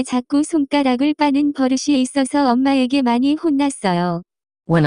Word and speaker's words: 버릇: The pronunciation of this word is closer to. 버릇.